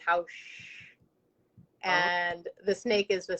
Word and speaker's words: Haux: your community group um how do you say it again because i said hoes okay yeah so um so house is the sound that the snake makes okay okay um so